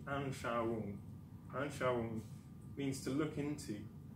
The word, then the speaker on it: Anschauung: Now, this word here is a bit hard to pronounce. It's actually Anschauung.